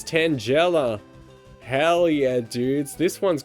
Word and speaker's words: Tangela: Kai says Tangela like tangerine. No, there's someone I know that said it like that, as in like rhyming with like Nigella Lawson, so it's never left my mind. Tangela.